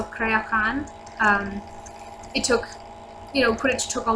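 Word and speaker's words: Creaothceann: I think that's how you pronounce it. I don't actually. I know it's not Creo-Fan, but so Crayohan.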